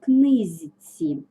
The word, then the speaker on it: книжці: до зц с наприклад книжці ми вимовляємо книзці особливо хочу акцентувати вашу